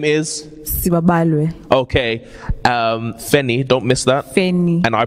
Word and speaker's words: Feni: my name your full name is okay um fenny don't miss that and i pronounced that correctly yes you did wonderful okay